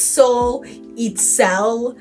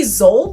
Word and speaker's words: Soul: It's soul. One time when I was at SE anime, someone called me Zol.